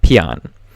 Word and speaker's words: Paean: word of that title and I could not pronounce it but it is it I found out how and it is uh Pon and basically pan just means a hymn or